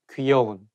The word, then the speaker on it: 귀여운: You know, when you talk in a formal situation, you have to make sure that you say 귀, not 기, 귀여운.